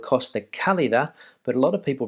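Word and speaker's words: Costa Cálida: place down there in motifia which is called costa calida but a lot of people pronounce it costa kalida so important in my opinion to work on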